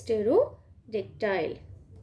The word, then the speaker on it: Pterodactyl: Be careful with this pronunciation. This is Stegosaurus and this is Pterodactyl.